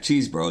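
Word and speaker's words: Chesbro: And Woods, 49, is the second most of the 20th century after Happy Jack cheese bro. That's actually how his last name is pronounced in 1904 who started 51.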